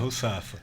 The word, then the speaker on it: Rusafa: O seu nome é Russafa mesmo, é assim que pronuncia? É Russafa.